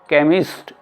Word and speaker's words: chemist: इसी तरह से हम देख रहे हैं C लेटर के बारे में, आपका C लेटर के बाद H आता है तो ये भी हमारा साइलेंट हो जाता है, CHEMIST, ये हुआ आपका केमिस्ट।